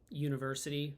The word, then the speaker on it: university: Yep, and that's another, I use university when I do it in class because they see it and they, especially a lot of languages pronounce it like ooh, they use that ooh sound. So they think, oh, it's un, but no, not with the pronunciation.